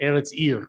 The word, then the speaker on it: Eretz Ir: Anyway, yes, Eretz Ir is the pronunciation. Is that correct? Eretz Ir, which means land and city.